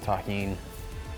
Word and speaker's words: tahini: Shout out to everybody that knows the deliciousness of tahini. That's how you pronounce this.